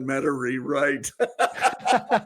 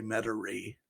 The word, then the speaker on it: Metairie: said you're the only one that's ever said meta rewrite because it spelled like mate m-e-t-a-i-r-i-e or something like that interesting so anyway that's pretty funny that's how i will always say metauri the commentary well you know that it was